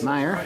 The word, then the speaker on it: Meyer: Meyer, is that how you say it? Yes. Meyer, yeah, Thank you guys for coming.